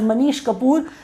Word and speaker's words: Manish Kapoor: name is mish Kapoor he can be pronounced as Manish kapor but whatever is convenient to you and our exam does not have anything to do with pronunciation but anyway Manish Kapoor is the name of